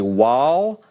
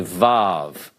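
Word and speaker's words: וָו: is a Sephardic now some grammars and many grammarians will tell you that anciently this was called a wall and it was pronounced as a W when it was used as a continent for the purposes of this class please stick with me on this let's call this a volve alright it has an English approximation of V sometimes people will say W that's why I included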